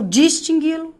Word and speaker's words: distingui-lo: Esquece o lo, separa as sílabas. Distingue. Qual é a sílaba tônica? Eu vou distingui-lo.